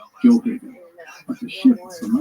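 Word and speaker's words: Gjoa Haven: This is because there is a Joe Haven, which is what the locals say today using the J sound, Joe Haven.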